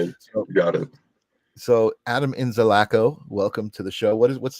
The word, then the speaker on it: Inzalaco: time, I've never actually asked you how to pronounce it. So I've been saying Inzalaco to myself, but then I read it and I was like, no, it's probably Inzalaco.